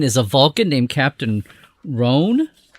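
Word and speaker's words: Rohn: The captain is a Vulcan named Captain Rhon. That's how we're going to pronounce it, R-O-H-N.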